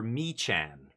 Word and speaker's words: Mechan: Survey Meccan. Now, I don't know how you pronounce it around the uh the ham hawks uh community, but I prefer Mchan.